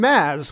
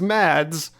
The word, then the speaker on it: Mads: And also, can I just say, points for the correct pronunciation of the name Maz, which is often pronounced as Mads, but I know from like Mr.